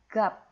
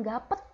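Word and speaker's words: 값: Oke, 1 2 3 gap. Oke, bukan gapet, enggak ada e-nya, Guys. Oke, enggak ada e-nya. Tolong, ya. Jadi, bukan gapet cara bacanya, tapi gap.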